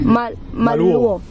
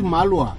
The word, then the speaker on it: Malua: Maluo. Is it Maluo? Actually, it's Malua. Malua. Malua. Yeah, but they put the O in the end.